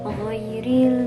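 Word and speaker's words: غير: harus diperhatikan yang pertama woi woi itu bukan huruf g jadi harus dibacanya wyie keluarnya dari tenggorokan itu makhluk Jin dari tenggorokan paling atas Terus yang kedua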